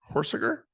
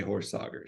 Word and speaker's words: Horsager: That's how those of the family on the West Coast pronounce it. So you're good with that. What is that? What is the real pronunciation? Well, the Midwest group, they say Horsager, so it can go both ways.